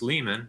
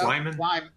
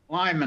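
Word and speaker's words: Liman: New York District Judge Lewis Leman, hopefully I spel pronounced that one right, concluded that the unired proportion Nope, I didn't. It's Lyman. Lyman.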